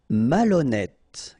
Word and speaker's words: malhonnête: décider, malhonnête. Okay, remember, H doesn't exist, so malhonnête. Don't insist on the final E. Malhonnête. And here you get E accent circonflexe, so you pronounce it like E. Malhonnête.